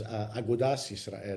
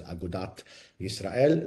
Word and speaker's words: Agudat Israel: The other group, of course, was Agudas Israel, who were non-Zionist, later would be pronounced in the Hebraized pronunciation of Agudas as Agudat Israel.